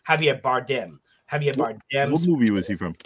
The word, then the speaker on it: Javier Bardem: Javier, excuse me, I said his name wrong. Javier Bardem.